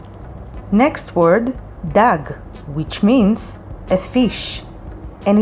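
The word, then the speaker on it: דג: for another word gag which means roof and spelled with two gimmies gag next word dag which means a fish and it's filled with dalit and gimel dag the next letter is hey hey sounds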